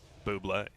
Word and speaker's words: Bublé: I Well, believe it's pronounced Buble. Bublé.